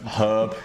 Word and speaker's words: herb: Oh, don't get herb. Why don't you pronounce the H?